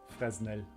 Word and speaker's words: Fresnel: I used to pronounce the S in Fresnel before I heard the word being spoken. Yeah, me too. Fresnel.